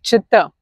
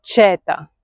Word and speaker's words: чета: What happens if the stress falls in the end of the verb? Чета. You don't say чета, да? You say чета.